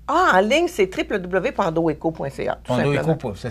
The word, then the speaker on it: Pandoeco: Pandoeco, ça s'écrit P-A-N-D-O et... E-T-C-O.ca. Donc, Pandoeco, comme ça se prononce.